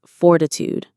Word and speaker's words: fortitude: It requires fortitude. Here is a truly wonderful word. Fortitude. Fortitude. The stress is on the first syllable.